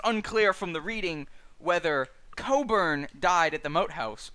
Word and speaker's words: Cockburn: is burning um so cockburn is an english name pronounced coburn um but cockburn was